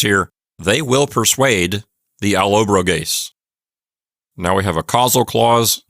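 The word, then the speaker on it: Allobroges: it's alob brase and I'm pretty sure the accent is on the anti penal so it's alobo gase not Alo broas because the O there is not long it's apparently a short eye and persad deun means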